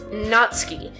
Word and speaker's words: Natsuki: she is his character, the pronunciation is Natsuki, because the U is silent.